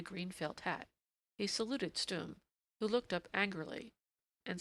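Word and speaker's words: Stumm: "Why, it's Colonel Stum," he cried. He pronounced it like the first syllable in stomach.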